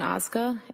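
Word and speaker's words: Ozga: Council have tell us your name, please, and spell it. It's Oza.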